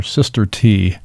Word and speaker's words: Sister T: I call her Sister T. Love it. Yeah, rhymes with Mr. T. In case you want to know how to pronounce it.